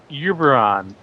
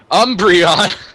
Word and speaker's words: Umbreon: 50% the Duck Hunt dog I am 50% uberon I am 50% entrance way I am 50% best pony none of these make sense actually like three of them make sense Umbreon it's pronounced Umbreon it's the Pokemon Pokemon so